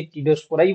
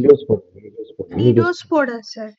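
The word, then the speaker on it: Cnidospora: ঠিক আছে, CNIDO, এর উচ্চারণটা কি হবে? CNIDO, এটা হচ্ছে টিডোস্পোরাই বলা উচিত, তাই কি? নিডোস্পোরা, হ্যাঁ, নিডোস্পোরা স্যার, হ্যাঁ, স্যার নিডোস্পোরা। নিডোস্পোরা। হ্যাঁ, নিডোস্পোরা বলতে পারো।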